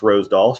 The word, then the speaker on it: Rosdahl: So, but phonetically, my last name is Rosdahl, not Rosedahl. So it's pronounced Rosedahl, should be Rosdahl. And so when people call me Rosdahl or Rossdale, phonetically, that's correct.